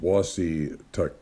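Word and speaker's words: Wassataquoik: the headwaters of the wasa cork pronounced wassey take river the riverlet dawn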